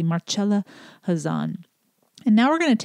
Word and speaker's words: Marcella Hazan: i and i mistakenly did not pronounce the c hard enough in our original conversation so i want to make sure i pronounce it correctly marcella hazan and now we're going